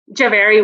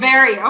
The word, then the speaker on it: Jhaveri: How do I pronounce that? Jhaveri was perfect. Jhaveri.